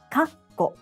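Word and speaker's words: かっこ: This small tsu sound is translated as a double consonant in English. When it's romanized, we have two consonants, like two K's in kakko or two T's in kitte.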